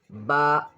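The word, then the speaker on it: ب: The next one is ba, ba. Both lips close, then open gently, ba. The both lips close, then open gently, ba, ba.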